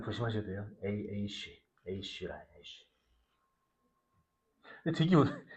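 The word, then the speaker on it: אֵשׁ: 그리고 두 번째 단어는 아까 에이쉬. 이 발음 조심하셔야 돼요. 에이쉬.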